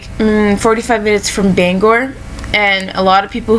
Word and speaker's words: Bangor: like 45 minutes from Bangor and a lot of people who are not from the main from the state call it banger but it's not it's Bangor it's b-a-n-g-o-r Bangor and so uh a